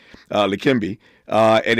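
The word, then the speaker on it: Leqembi: It's it's pronounced likimbe uh likimbe.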